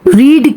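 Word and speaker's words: read: I have, रीड की third form या past participle भी रीड ही होता है, रीड रीड रीड, लेकिन हम उसको रेड बुलाते हैं, स्पेलिंग हम उसको रीड के ही देते हैं।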